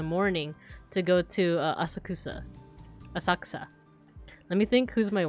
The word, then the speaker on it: Asakusa: to this place called Asaka it's that's that's a little bit more how it's supposed to be pronounced but um you could also just say asakusa but I think it's more more so like Asaka um we went to